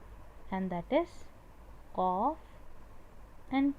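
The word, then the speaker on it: ق: Ka at this position, and a bit behind it is qaf. Okay, ka, qa. Most of them get confused with this qa. Okay, qaf is not from the throat. Yes, but many people do confuse it.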